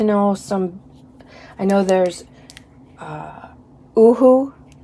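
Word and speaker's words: UHU: I know there's Oohoo. According to their website, that's how it's pronounced. Like boohoo, only no B.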